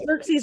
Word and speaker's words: Xerxes: know that yeah well xerxes rhymes with jerk cheese for a reason can